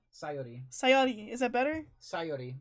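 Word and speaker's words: Sayori: back Zori hi ax sori sori no sori sori sori sori sori sori emphasis put on the first syllable so not sori it's sori sori sayi sayi is that better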